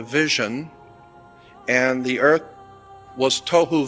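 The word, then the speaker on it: תהו: being translated there is tohu and vohu. Pronunciation, it would be T-O-E hyphen W-H-O, tohu. That's not the way it's spelled in Hebrew, but that's the way it's pronounced. T-O-E-W-H-O, tohu.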